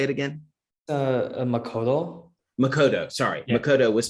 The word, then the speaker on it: Makoto: Kind of how Makoto, sorry, I hope I pronounced it right. Makoto was talking about the domain. How to say it again? Makoto.